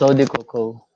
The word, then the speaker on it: Eau de Coco: Is it Eau de Coco? Teach us how to pronounce it correctly. Yeah, well, I'm not French, but my boss is French, so he says okay. it as Eau de Coco.